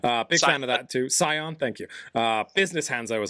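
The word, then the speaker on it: Scion: Sion or Skion, however you pronounce it. Big fan of that too. Sion, thank you.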